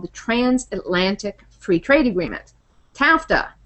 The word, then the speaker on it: TAFTA: transatlantic Free Trade Agreement tafta this one directly rhymes with NAFTA so accurately so it